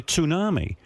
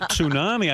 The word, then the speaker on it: tsunami: And I said to my wife, "You know, they're carrying on like they're expecting a tsunami." And she goes and she goes, she goes, "Tunami?"